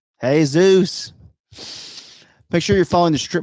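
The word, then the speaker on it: Jesús: what would you say Jesus with a soft G that would be a j yeah it would be a j I'm silly hey Zeus it's Jesus hey Zeus make sure you're the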